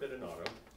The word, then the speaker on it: Bidinotto: Okay, it being 2 o'clock, first thing I want to know, my name is Robert Bidinotto. That's how you pronounce it, somebody asked.